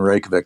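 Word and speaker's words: Reykjavík: You roll your R if you want to pronounce it right. Reykjavik.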